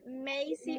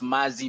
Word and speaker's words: Mazi: Okay, let's continue with Macy or Macy. I'm sorry, not correctly, and I don't know exactly how to pronounce that. Macy Mike. Okay. Actually, Lillian, it's Mazi Mike.